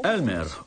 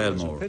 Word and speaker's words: Elmore: All'epoca mi chiamavo ancora Elmore, ma la maggior parte delle persone pronuncia male il mio nome. Dicevano Elmer o Elma. Nessuno diceva Elmore.